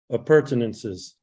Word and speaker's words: appurtenances: water tank, hoses, and other, how is that pronounced? Appurtenances.